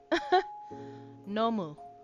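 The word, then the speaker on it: 飲む: Nomu. Okay, it's a no and a moo.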